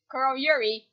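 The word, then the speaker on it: Kuroyuri: sure but maybe they'll meet up in um KL Yuri H said it right this time Carl Yuri and help Ruby will team Ranger Bend off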